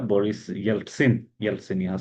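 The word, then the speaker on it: Ельцин: आता है Boris यल्टसिन Yeltsin यहां स्पेलिंग की तो इसी प्रॉब्लम है इट्स नॉट यल्सिन इट्स यलसिन ठीक है बोरिस यलसिन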